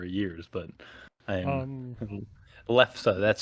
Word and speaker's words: lefse: I haven't had them in a number of years, but I'm Um, lefse. That's spelled Lefse for anyone who's curious.